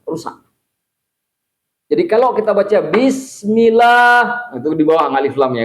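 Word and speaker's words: بسم الله: Bisnya kan dibacanya panjang juga kan? Nggak boleh bismillah, nggak boleh. Karena di situ untuk menunjukkan ada alif yang telah dihapus, maka ulama qiraah membacanya bismillah. Itu bacanya.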